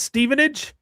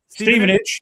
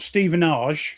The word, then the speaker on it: Stevenage: Stevenage. Yes. Stei, John. Great. See, they like the time. Ste, not Stephenage. No, Steven. It's Steven. Steven Age. Yeah.